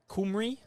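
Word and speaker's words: Cymru: end so Wales with the Welsh pronunciation of the country on the back of their shirts there kumry I'm told by our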